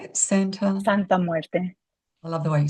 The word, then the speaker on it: Santa Muerte: Santa Muerte. I love the way you say it. Yep. It's Santa Muerte.